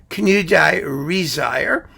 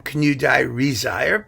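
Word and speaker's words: Knudåge Riisager: That means that Knudage Riisager, at this point, you can see how they spell this. He has an A with like a little circly thing over it, and this little E isn't pronounced, and the G is pronounced like a Y, and this second I is like totally unnecessary. I mean, there's no way to know how you're going to say these things, and I happen to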